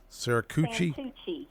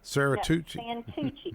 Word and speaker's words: Santucci: Your new town manager, I can't never pronounce his last name, David Saracucci? Santucci. Santucci. Okay. Santucci.